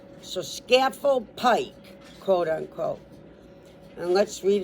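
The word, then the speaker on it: Scafell Pike: So it's S C like cat A like apple and then fell like you fell down. So scaffold pike quote unquote.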